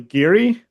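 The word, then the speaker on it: guiri: I did I did look up what I think it's actually giri is how it's supposed to be pronounced according to the Wikipedia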